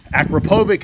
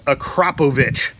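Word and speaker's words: Akrapovič: on c7s so the akrapovic is how you pronounce this not acropovich acropobic is how i've been pronouncing it in majority of the video but is actually pronounced acropovich so this exhaust system is full titanium a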